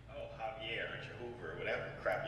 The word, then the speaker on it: Javier: Am I Spanish? Mexican? Pronounce your J's. No. Spanish people don't... What is it? Mexican people don't pronounce the H's. I mean, they pronounce the J's. H's. Do I look Mexican to you? Look Mexican. You could be Dominican. Look Mexican. So. It's Joovier. Okay.